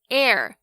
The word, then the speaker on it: heir: hour 小时， honest 和 honesty 诚实的和诚实， honor 荣誉，跟 heir 继承人，这些都是以 H 开头但是不发音的例子。那另外如果像是 RH 开头的话，这个 H 也是不发音哦，像是动物园里面的犀牛 Rhino 就是一个活生生的例子， R-H-I-N-O Rhino。